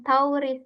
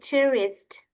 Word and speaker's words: tourist: So, yang ini bro and sis untuk ini itu bukan dibacanya bukan tauris ya, tapi tourist. Tourist. Jadi o-nya itu tipis aja.